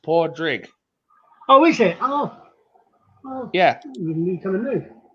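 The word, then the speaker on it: Pádraig: pronounced It's actually pronounced the Scots pronounce it porrick, but in Ireland it's usually pronounced podrig.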